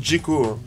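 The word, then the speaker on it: Džeko: Djeko, qui se dit Djeko, hein, puisqu'il y a un caron sur le Z. Le caron, ça se prononce che. Donc Z, che, ça fait dj. Donc Djeko catapulte le ballon au fond des filets, après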